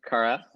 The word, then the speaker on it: Kara: quick here i don't know if i'm gonna pronounce this correctly seek kara and tell us what so this is a kara it's right here this is a symbol of